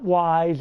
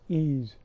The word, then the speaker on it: Ys: It's not Wise. Everybody pronounces it Wise. No, it's Ys. That's how it was pronounced.